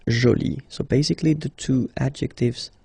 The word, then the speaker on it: joli: you put this uh but then you don't pronounce it okay so it's jolie so basically the two